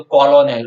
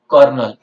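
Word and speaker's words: colonel: ओ एनई L okay उसको आप spelling wise pronounce करोगे तो कॉलोनल उस तरह से प्रोनाउंस करेंगे बट इट इ प्रोनाउंस एस कर्नल कर्नल यल बंगलो तो कर्नल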